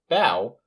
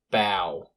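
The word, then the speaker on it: bough: at his dirty soap the pronunciation of the o-u-g-h is different it is the owl sound so in the word bow we're using a b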